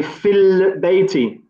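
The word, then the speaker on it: في البيت: So here, for example, we say fil bayti. So we don't pronounce this alif because it's known as hamzatul wasl.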